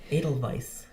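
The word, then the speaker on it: Edelweiss: Pronounce the W as a V. Adel vice.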